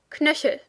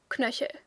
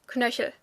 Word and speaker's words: Knöchel: Most people in everyday speech will kind of skip the E, so the word kind of sounds more like Knöchel.